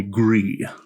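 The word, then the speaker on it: Gris: It will turn to Sutton and say, "You may call me Gree." Gree. Gree. How do you spell that? Gree. G R I S. Uh, like gray in French.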